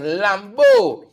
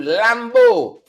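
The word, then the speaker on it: Lambeau: to my um pronunciation Lambo and then I learned it's a French word and it's spelled for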